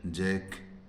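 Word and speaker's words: jack: एचसी के हैक जैसे जे ए सी के जैक जैसे एल ए सी के लक इस प्रकार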